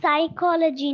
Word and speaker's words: psychology: have to put p it's psychology not ah the spelling is like that okay p is silent so you have